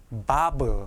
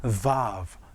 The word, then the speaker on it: vav: 영어 V처럼 발음하셔야 됩니다. V, bob 하시지 마시고 vav 이렇게요.